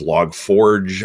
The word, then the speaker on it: Log4j: of them log 4j sometimes it's pronounced as log forge i don't know i'm